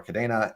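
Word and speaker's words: Kadena: It's Cadena. a spinoff of the Spanish word cadena for chain, but spelled with a C. And so we pronounce it with the Spanish pronunciation, which with the A, cadena.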